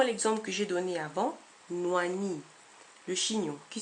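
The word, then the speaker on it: nwani: que j'ai donné avant noani le chignon qui s'écrit n W A n i on pourrait aussi l'écrire nu a n I et la prononciation serait identique N noani un autre exemple moici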